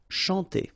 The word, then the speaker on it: chanter: Chanter. Okay, remember, C-N-H here, sh, and then A-N, nasal, en. Chanter.